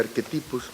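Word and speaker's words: archetypus: El archetipos, podrías decirles también, de acuerdo a la pronunciación latina sería arquetipus.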